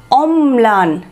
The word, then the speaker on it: অম্লান: লক্ষ্য করে, অম্লান অম্লান, ময়ের উচ্চারণ দুবার হচ্ছে সেটা পরিষ্কার বোঝা যাচ্ছে, বা মনে হচ্ছে যেন ময়ের ওপর একটু জোর পড়ছে, তাই তো, ময়ের সাথে ল যুক্ত আছে, যে বর্ণের সাথে লটা যুক্ত আছে সেখানে একটু জোর বা উচ্চারণটা দ্বিত উচ্চারণের মতো হচ্ছে, অম্লান, তো ম্লানের এটা